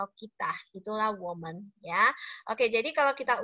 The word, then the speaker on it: 我们: Berarti ini bacanya woman ya kan.